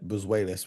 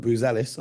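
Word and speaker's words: Buzelis: Um, by the way, I I I got in trouble with our editor for pronouncing his name wrong because apparently I said Boseis, which sounded too much like Bruce Willis. Um, but Bzelis, I hope I'm saying that correctly today.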